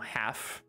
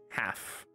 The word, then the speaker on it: half: ¿Por qué en algunas palabras no se pronuncia la L? No sé la verdad por qué, pero en algunas sí, como half, half.